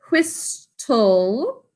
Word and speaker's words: whistle: Whistle is the way we think to spell it because there's a silent T.